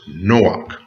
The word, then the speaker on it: Chanowk: And in the Hebrew, it is pronounced Chanowk.